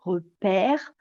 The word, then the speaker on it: repère: Et quand je parle du E muet, c'est tout simplement parce qu'en français, on a tendance à avoir comme une voyelle plutôt ouverte, repère, quand il y a un E muet.